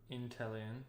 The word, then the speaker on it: Inteleon: Is it pronounced Inteleon? Inteleon, yeah.